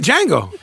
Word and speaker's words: Django: and now I can't you said it right Django oh no I'm saying the Django oh thejang